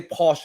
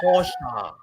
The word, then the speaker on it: Porsche: And then it's like, they know Americans say Porsche, right? And he said, no, it's a Porsche.